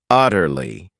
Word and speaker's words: utterly: another great adverb utterly this word has three syllables and the stress is on that first syllable utterly it means completely totally